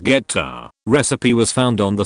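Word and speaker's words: goetta: Grandma's homemade gota, pronounced geta, recipe was found on the side of the Quaker Oats box.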